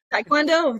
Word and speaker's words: Taekwondo: Did I pronounce Taekwondo right? Yes, Taekwondo, that's it.